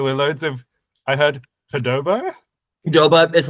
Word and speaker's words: Qdoba: Qdoba. So it's like adoba, but instead of an A, it's a Q.